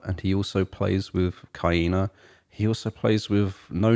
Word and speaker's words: Kaina: because of Sen Morimoto, Kaina, I think is her name. Yeah, I was saying Kana. I didn't know how to say that. Yeah, I think she actually pronounces it on her Twitter profile. It's hard to spell. Kaina? Pronounce. Like hyena? Yeah, Kaina, I think.